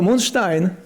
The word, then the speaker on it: Moonstein: So Moonstein was not taken. And also kind of rhymes with Einstein, okay?